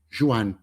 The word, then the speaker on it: Joane: principalmente a pronúncia porque aqui se fala assim Juan eh e aí lembra uma